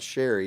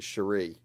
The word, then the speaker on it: Cherie: It's not Sherry, it's actually Cherie, but it's spelled a different way too.